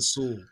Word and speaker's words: Soule: And Charles, I don't know if it's Soul, Soule, I don't know exactly how I always pronounce it Soule. Okay, cool.